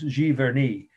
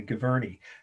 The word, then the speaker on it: Giverny: it in your notes g vernee or again if you're from indiana gavirni g-i-v-e-r-n-y is a small town